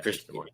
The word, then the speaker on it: Krishnamurthy: So I think it's good that Representative I'm going to mispronounce his last name. Krishnamurthy. Yeah, Krishnamurthy.